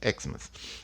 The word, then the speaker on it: Xmas: Os americanos escrevem Xmas porque o X aqui ele é pronunciado com o som do Christmas, né? Christmas, Xmas.